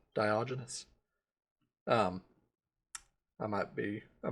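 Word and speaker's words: Diogenes: Uh Bennett F says Dioenius. I think I think that's his uh British accents clashing with the uh Latin name there. Um which I like Dioenius better. That sounds cooler, but I think proper pronunciation is uh Dioenous.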